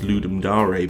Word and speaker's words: Ludum Dare: Apparently it's pronounced Ludum Dare because it's Latin, but it's spelled Ludum Dare, so...